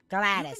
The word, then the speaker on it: Gladys: Gladys, that's how you say her name.